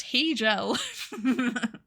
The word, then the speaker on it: Hegel: It's pronounced Hegel. Hegel.